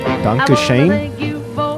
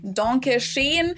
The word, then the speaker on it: Dankeschön: But it's not so much Danke schön, but more Dankeschön.